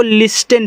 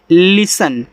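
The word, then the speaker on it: listen: अब देखो जिनको तरीका नहीं मालूम है इसको लिस्टेन पढ़ते हैं। जो कि लिखा गया है लिसन। तो इतना आपका सन है। यह आपका ली है। तो ये आपका ली हो गया। यहां पे आपका स और न। ठीक है? ये आपका लिसन होता है।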